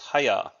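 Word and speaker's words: 早: This character is pronounced haya, which means early or quick.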